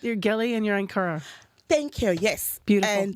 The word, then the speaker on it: Ankara: You're Geli and you're Ankara.